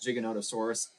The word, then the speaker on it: Giganotosaurus: A 5-year-old tells me it's pronounced Giganotosaurus.